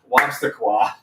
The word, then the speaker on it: Wobstaqua: It's spelled exactly like it sounds. It's Dr. Wobstaqua.